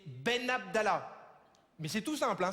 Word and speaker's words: Ben Abdallah: Ouais, alors non, c'est pas Benalala, c'est Ben Abdallah.